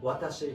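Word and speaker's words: わたし: Well, atashi is not wrong, but watashi is the correct word.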